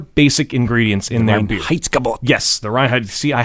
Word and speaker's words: Reinheitsgebot: And as a result of that, the Reinheitsgebot.